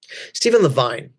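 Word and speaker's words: Stephen Levine: Steven Levine is how he pronounced it was the foremost author on death and dying in the 80s and 90s along with Elizabeth Kubler Ross.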